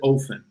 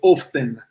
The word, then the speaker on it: often: I think the T is silent if you go almost the British way. But the way I learned it was often.